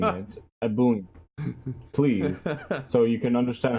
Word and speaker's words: Ebullient: Ebullient. Please. So you can understand how to properly pronounce this, you uncultured swine. Ebullient. Name. I've had people call me a, and I cringe so hard.